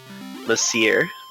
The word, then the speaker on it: Monsieur: And thank you, Brexis Muse, for the proper pronunciation. Monsieur.